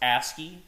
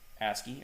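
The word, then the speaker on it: ASCII: originally and and guys this word is uh pronounced asky or asc2 asky or ASC I I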